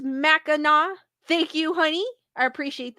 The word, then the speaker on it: Mackinac: Honey 2800 goes, it's pronounced Mackinac.